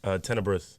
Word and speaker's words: Tenebrous: I can't pronounce the name of the album. Oh, Tenebrous.